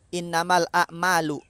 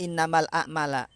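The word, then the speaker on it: إنما الأعمال: Dibacanya innamal a'malu. Enggak innamal a'mala.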